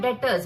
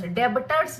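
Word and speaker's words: debtors: डेटर्स डेबिटर्स नहीं है ये। ठीक है? क्या है? बी साइलेंट है। डेटर्स।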